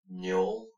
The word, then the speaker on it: Njal: Njol. Njal. One more time for everyone at home. Njal.